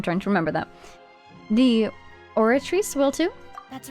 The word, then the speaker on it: Oratrice: Okay, it is a soft C. I'm trying to remember that. The Oratrice will too?